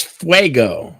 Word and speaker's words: fuego: scenario good fire or bad fire oh it's Fuego that's how you pronounce that wo let go myo you should